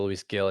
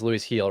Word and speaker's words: Luis Gil: Yeah, I think I'm never gonna be able to shake the Luis Gill. It is Luis Heel, right? It's pronounced Yeah, yeah, yeah.